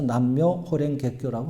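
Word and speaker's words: 南無妙法蓮華経: 이런 뜻으로 나무를 앞에 붙여서 나무 몇법 연화경을 일본말 일본말 그대로 발음을 해서 남묘 호랭 개교라고 하는 거예요.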